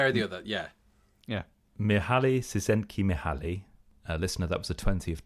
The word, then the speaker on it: Mihaly Csikszentmihalyi: Mihaly Csikszentmihalyi.